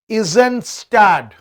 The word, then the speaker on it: Eisenstadt: थोड़ा सा pronunciation आपको दिक्कत लगेगा, but it's E silent है, Eisenstadt. S.N.